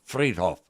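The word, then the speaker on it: Friedhof: Hof Hof fried Hof but that's not the way it's pronunciated it's Fred Hoff anyway that means Cemetery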